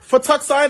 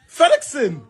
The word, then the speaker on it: fettuccine: This shit, Fettuccine Alfredo. What did you have? Fettuccine Alfredo. But why y'all laughing? Why are you laughing? Fettuccine Alfredo? How the Fettuccine? FedExin.